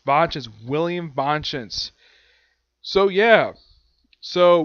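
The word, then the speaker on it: Vangeance: Heck, they poke fun at the ending at the end of this episode by having Yumi keep frequently mispronouncing Vange's name. It's Vange's, William Vange's.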